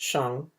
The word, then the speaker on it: Shang: china and start a dynasty the shang produced pronounced shang was one such clan for hundreds of years